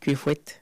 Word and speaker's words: Kuefouet: Maintenant que tout ceci est dit, on peut souhaiter la bienvenue à notre invité, Dr Kwefouet. C'est bien, est-ce qu'il prononce bien?